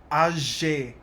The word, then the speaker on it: âgé: And next we got jeune et âgé. And here the E doesn't make any pronunciation difference.